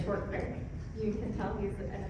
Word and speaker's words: Short Creek: really impressed with wayne he pronounces it the proper way short quick you can tell he's